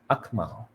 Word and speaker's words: Akmal: MJ Maisara Muhammad, Muhammad Alif Akmal, JY Chong, Akmal. You accentuate, pronounce the K, and it will sound much, much, much better.